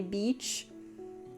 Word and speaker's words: beach: Last week I had that slip up multiple times trying to say beach. Yeah. You gotta stretch the E.